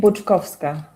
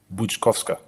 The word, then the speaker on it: Grzesikowska: Her name Grzesikowska. Grzesikowska.